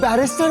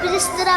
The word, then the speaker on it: बैरिस्टर: बैरिस्टर बाबू बोलता तुमने बैरिस्टर बाबू बोला तुमने इस बार तो इस तरह बोलो बै पर रेस रेस रेस टर टर उडूंगी मैं बिस्तरा बाबू लगवा दो मुझे